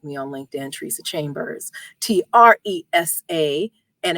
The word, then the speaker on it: Tresa: You can also connect with me on LinkedIn, Tresa Chambers, Tresa, and it rhymes with Lisa, as I always say.